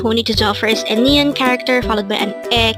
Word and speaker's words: 아내: at the angle word Number 96 Ane again it's Ane this pronounce is the two syllable word the first